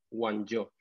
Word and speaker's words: Guangzhou: La ciudad en chino, que se pronuncia como bien sabes, Guangzhou.